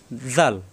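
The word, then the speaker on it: ذال: জিব্বার আগা দাঁতের আগায় লাগিয়ে নরম করে উচ্চারণ হবে জাল।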